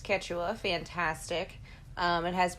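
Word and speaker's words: Quechua: word so thank you for that it's it's pronounced ketua fantastic um it has it's it's got more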